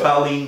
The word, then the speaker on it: cailín: Cunis boher colleen bonion.